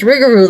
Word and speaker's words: Rougarou: I was on an episode of Eerie Travels podcast where the Rougarou episode, you should totally listen, because remember, you pronounce Rougarou like Scooby-Doo.